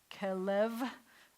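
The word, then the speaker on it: כלב: And remember, when we have two segals together, let me make this here, it's going to be, the accent's going to be on this syllable. Kelev.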